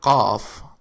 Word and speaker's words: قاف: which means leather leather C the letter c is pronounced like K in English but it is deeper in the throat its basic shape is